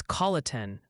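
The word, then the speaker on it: Colleton: It's Colatin for Colatin County SC.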